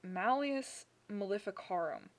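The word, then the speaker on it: Malleus Maleficarum: gonna get you and what happened was the malleus malificarum was written and i know that pronunciation is right because i had it double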